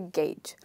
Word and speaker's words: gauge: So like you say game, that's how you say gauge.